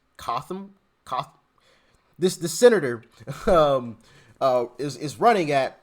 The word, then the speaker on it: Cotham: And now I believe in North Carolina, where I think the way you pronounce her name was Cotham.